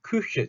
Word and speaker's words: Küche: 자, 발음 주의합시다. 옴라우트 발음 되게 어려워요. Küche 같은 경우는 일단 뜻은 우리말로 부엌이에요. 부엌. 부엌이 키역 받침이죠, 아마? 부엌 맞을 거예요. 네. 자, Küche. 이것도 우한 상태에서 입모양은 우로 그대로 두고 소리만 이를 낸다는 느낌을 하면 으죠.